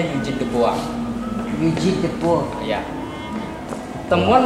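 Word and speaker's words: Eugène Dubois: Eugene de Bois, tulisannya tapi bacanya Eugene de Bois.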